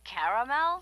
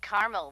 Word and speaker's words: caramel: in Caramel oh the caramel yeah that's what I said Tina actually you said caramel when it's pronounced caramel can't we just call